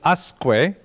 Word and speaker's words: Usque: So I would guess the subject of tonight's lecture is Samuel Usque. However, when I looked it up online, they said Usque, which seemed to me